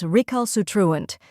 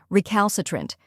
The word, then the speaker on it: recalcitrant: The correct pronunciation is recalcitrant. Let's break it down. First, we have re, which sounds like the rye in river. Next is cal, which rhymes with pal and is stressed.